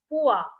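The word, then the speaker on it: Pu-erh: p-u-e-r-h and what is it that's that is pronounced as pua pua is a tea that is only available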